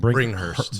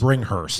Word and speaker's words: Bringhurst: Bringhurst. Bringhurst. Yep. Okay. Yep. I always throw a fucking K in there.